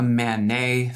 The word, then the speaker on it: MANET: It's called a MANET, phonetically looks like MANET, which is short for Mobile Ad-Hoc Network.